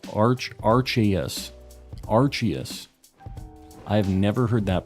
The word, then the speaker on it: Arceus: doing on accidents um it's Arceus I say Arceus a lot of people say Arceus uh I can't say that Japanese is spelled aruse so I don't know you